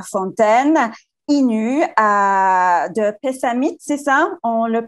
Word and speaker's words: Pessamit: un attaché à canapé à fontaine innus de pessamit c'est ça on le prononce comme ça elle est prête à artistes